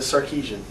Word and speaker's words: Sarkisian: with it I wear you out but a Sarkisian okay Sarkisian okay I really pretty simple yeah it really